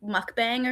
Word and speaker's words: mukbang: Mukbang.